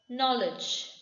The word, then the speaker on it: knowledge: don't say knowledge k is silent before before the n knowledge knock knock the door